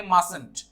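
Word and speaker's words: mustn't: तो इसे प्रोनाउंस करेंगे मस्टंट। अब इसके टी का साउंड को प्रोनाउंस नहीं करते, मस्टंट नहीं बोल के मस्टंट बोलते हैं।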